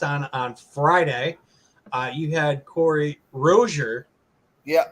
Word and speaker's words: Rozier: You had Corey Rozier, Yeah, right? So that's how you say his name, not Rosier or Rozier.